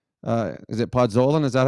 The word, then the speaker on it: Podkolzin: But the Oilers need a player like, is it Podkolzin? Is that how you say it? Podkolzin.